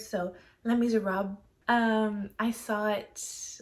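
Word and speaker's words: Les Misérables: People keep telling me you don't pronounce the last half of the word, so Les Miserables.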